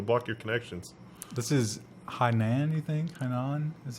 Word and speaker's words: Hainan: block you it'll block your connections this is Hainan anything and on that's how you pronounce that but it's a basically a beautiful